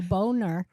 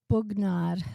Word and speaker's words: Bognar: How do you pronounce it? Bugnar. Bognar? Bugnar. Bognard.